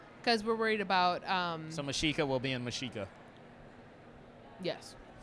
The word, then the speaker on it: Mexica: Because originally I had the character of Mexica as Masheeka, how it sounds. Because we're worried about... so Mashika will be in Mashika.